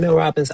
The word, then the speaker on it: Mel Robbins: Is it Mel Robbins?